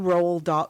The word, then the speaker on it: Roald: It's sort of, it's like Margot mentioned a while ago, he knew Roald, how do you say like it? RuPaul without the P.